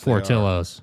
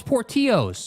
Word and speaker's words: Portillo's: I heard them said, oh, it's Portillo's. No, it's not. It's not Portillo's, dude. It's Portillo's. I'm jerk. fat. I know how to pronounce food.